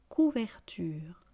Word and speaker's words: couvertures: couverture une couverture des couvertures couverture une couverture des couvertures et je n'oublierai jamais de le répéter on ne prononce pas la marque du pluriel pédagogie s'est répétée et répété répétez après moi une couverture des couvertures.